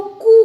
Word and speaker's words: coup: Democratic rulers हैं इनको कू कर दिया था। अब वापस COUP, पी साइलेंट रहता है, इसलिए प्रोनाउंसिएशन कू होगा।